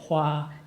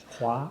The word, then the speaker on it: 华: Huawei, Hua. Second tone, 第二声. Oh, so it's not Hua. Yeah. Hua. 华为，对，为，华为。对，也是第二声，华为。